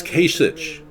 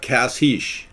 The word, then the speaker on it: Kasich: It's Kasich, not Kasich. It's Kasich. Yeah, I know. I pronounce his name Kasich all the time.